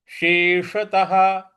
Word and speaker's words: शेषतः: निकलेगा तो यह होगा शेषतः शेषतः देखिए और त के बाद जो विसर्ग है इस विसर्ग के आगे कोई अक्षर नहीं है इसलिए इसका उच्चारण हमें ह ले आना है तो हो गया